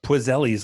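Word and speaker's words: Poiseuille: laser constriction property huh pizzelles law that actually that's pronounced with PW which is kind of weird but basically this is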